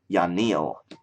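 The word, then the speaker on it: Yanille: now uh which I used to call it yanel but it's not actually pronounced that way it's y Neil yanil so that's pronounced yanil not yanel um xanis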